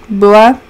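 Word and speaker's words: Bua: Boa. It's spelled the same way as like Poa from Moana, but with the B instead of a P.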